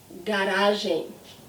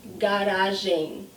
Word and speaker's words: garagem: Garagem. See the end of the word? Garagem. The same aim I had in bem.